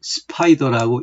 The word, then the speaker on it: SPDR: 그리고 이를 추정하는 ETF가 바로 스파이더라고 읽는 SPDR입니다. 그러니까 S&P 500을 추정하는 ETF 상품군을 총칭해요.